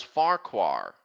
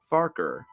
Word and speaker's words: Farquhar: did you know that it's pronounced farker sort of like it's sort of like focker here's a proof it